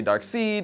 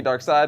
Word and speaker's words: Darkseid: pronunciation of Darkseid's name some people say dark seed others say dark side which is what I say and it's the correct